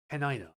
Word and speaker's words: Tenino: And I know it's pronounced Tenino.